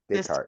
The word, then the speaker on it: Descartes: He had just been exposed to the 2D and 3D coordinate systems of Rene Des- how you pronounce that? Descartes.